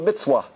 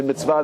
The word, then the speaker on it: mitzvah: They don't say mitzvah, they say mitzvah.